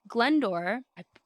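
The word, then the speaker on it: Glyndwr: him know that he had a suitable body glendor listen to the pronunciation of this guess how this is spelled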